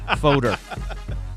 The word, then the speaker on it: Fodor: pronounce his last name he's been folder he said like like odor with enough if you